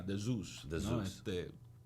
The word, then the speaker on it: dZeus: Pero en inglés se pronuncia de Zeus.